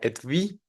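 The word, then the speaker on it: Etui: realidad la primera u se pronunciaría como la labiodental v más la i larga Entonces sería etv acentuado y esta palabra significa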